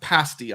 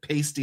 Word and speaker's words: pasty: Uh two, I have eaten a pasti on the same trip. But that's not where this picture was taken. Um and it is pronounced pasti on my honeymoon. I said pasty and they all laughed at me.